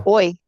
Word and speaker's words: hoy: is it ho, right? You don't pronounce the H ever. Oh. Yo. Hoy, hoy, Uh Hoy es uh jueves.